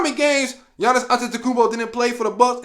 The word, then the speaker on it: Antetokounmpo: Yeah, I said it right, Antetokounmpo.